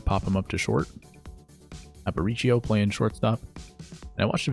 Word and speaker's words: Aparicio: cutter there to pop him up to short Aparicio playing shortstop I watched a very interesting video